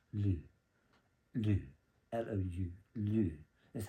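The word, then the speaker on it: L'Eau: I had to look it up because I used to call it Liao. So I'm sorry if I butchered it in other videos. It was embarrassing when I learned out it was just pronounced Lou.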